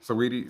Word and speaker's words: Saweetie: I never know how to pronounce it. Saweetie?